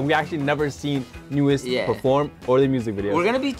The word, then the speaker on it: NU'EST: New East. New East. We actually looked up how to pronounce their name because, yeah.